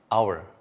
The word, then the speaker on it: hour: An hour, 1 jam, meskipun ditulis dengan huruf H, O, U, dan R, dibacanya hour, sehingga kita gunakan an hour, 1 jam.